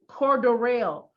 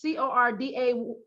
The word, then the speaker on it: Cordarrelle: It's spelled Cordarrelle. That sound. Cordero. Cordero. That's bothering me. Cordero is Cordaryl. I don't like it. The people that's announcing it might be announcing it wrong.